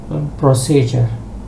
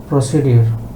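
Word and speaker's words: procedure: বলে এখানে দুইটা পার্ট প্রসিজার আমাদের দেশে এই শব্দটাকে উচ্চারণ করে প্রসিডিউর এরকম কোন উচ্চারণ নাই আমাদের দেশে আছে কিন্তু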